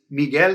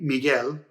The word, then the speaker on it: Miguel: that person's name is miguel cervantes hi it's me from the future i just wanted to point out one of the vowel pronunciation exceptions right here this u is actually silent exceptions are rare but